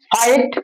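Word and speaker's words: fight: নাইট, ফাইট, এফ আই ফি নয়, এফ আই ফাই, আর জিএসটি ট, ফাইট।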